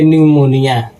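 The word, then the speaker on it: pneumonia: हुआ है यानी कि एन के पहले दोस्तों आ गया है पी और पी के तुरंत बाद आ गया है दोस्तों एन। तो पी यहां पे दोस्तों हो जाएगा साइलेंट। तो इसको पढ़ेंगे दोस्तों। पी साइलेंट कर देंगे। तो इसको पढ़ेंगे निमोनिया।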